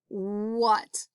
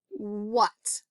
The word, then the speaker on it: what: wh at the beginning we see at but what do we hear what we hear a short u don't we we hear an uh sound so we have to be really careful and remind ourselves that this is what not wha at or w hat it's what all right let's spell